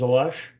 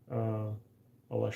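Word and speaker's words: Aleš: my first name is Ales. And in Vancouver, nobody knew how to pronounce my name. It's spelled Ales, but then there's an accent on the S to make it a sh.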